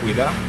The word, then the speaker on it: Hueda: Le nom de Ouida, ça vient de Ouida. De Python. De Python. Parfait. Mais il y a des Français qui ne savent pas bien prononcer le mot Hueda. Ça vient du mot Ouida. Ouida. Ouida. Ouais.